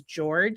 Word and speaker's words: Jorge: And so I believe he says George. It looks like Jorge to me, but I believe he pronounces it George.